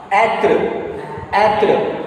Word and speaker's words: être: So how to pronounce this word? end. Atre.